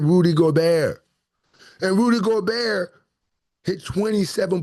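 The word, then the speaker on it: Gobert: Yes, I said Rudy Goar.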